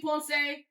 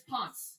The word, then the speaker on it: Ponce: just going to say sorry, because we are saying that wrong. It should be Ponce. I don't know why we can't say it correctly, but it's Ponce for us here.